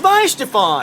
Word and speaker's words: Weihenstephaner: We're here with Weihenstephaner. Why the hell? I'm bearing the lead here. It's Weihenstephaner. I mean, screw you. It's your beer. I mean, even though that Weihenstephaner is already almost 1,000 years old, I'm only